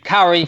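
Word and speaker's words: Czuchry: resident uh now this stars and I cannot pronounce his name Matt Carrie from The Good Wife thank you though yeah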